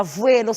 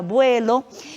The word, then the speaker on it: vuelo: Vida, aqui aparece a palavra vuelo, nunca será vuelo, será vuelo.